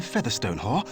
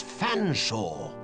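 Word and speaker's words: Featherstonehaugh: F silent E, A, silent T, silent H, silent E, silent R, S, silent T, silent O, N.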